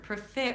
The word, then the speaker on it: prefer: Primary stress on the second syllable.